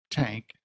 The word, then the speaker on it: Tanck: Tank, what would you, would you state and spell your name? Yeah, Tank, Tanck.